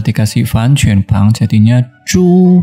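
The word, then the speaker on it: 猪: Setelah dikasih Fan Quan Pang jadinya Ju bacanya ya.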